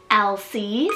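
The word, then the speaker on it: Elcie: for a girl and foxley means Fox Meadow LC spelled e-l-c-i-e or e-l-s-i-e-l-c this one's actually a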